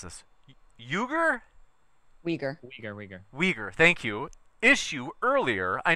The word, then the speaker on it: Uyghur: Let me know if I mispronounce this. Uyghur? Uyghur. Uyghur, thank you.